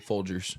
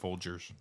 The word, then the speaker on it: Folgers: It's Jers. Jers. I always DG. said Gers. Is it DG or? It's G. Yeah. Well, like, yeah, It's- no, it's it's regular G, but LG. it's spelled or it's pronounced Folgers.